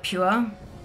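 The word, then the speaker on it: Pür: It's spelt P-U with an umlaut R, but they call it Pure.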